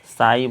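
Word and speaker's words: psi: इसको साई बोलते हैं। पी इसमें साइलेंट रहता है।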